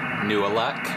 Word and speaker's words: Nooelec: From Nooelec, I think is how you say it.